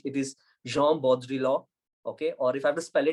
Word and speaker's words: Jean Baudrillard: And if you have to say his name in French, it is Jean Baudrillard.